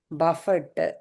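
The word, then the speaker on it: buffet: பஃபட். நம்ம பஃபே சொல்லுவாங்க. சாப்பிட்டீங்கன்னா பஃபே சொல்லுவாங்க. இ வந்து D silent. D silent. பஃபே பஃபே. சொல்லுவாங்க.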